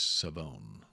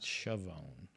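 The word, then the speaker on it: Shavon: It's Savone. So I guess the H is silent. Savone, not Shioone.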